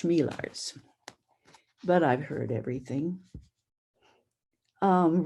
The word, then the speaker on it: Chmielarz: with my last name it's pronounced shmeelars but i've heard everything